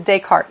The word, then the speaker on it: Descartes: Now, since the spelling of the name, sometimes people will struggle with pronunciation and say, Descartes or something like that. But my understanding is it is Descartes. And obviously I'm not French. I'm not going to have perfect pronunciation.